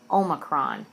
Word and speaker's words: Omicron: It's not Angelina and Brad, and it's definitely not Psi, oh my corn. It's Psi, Omicron.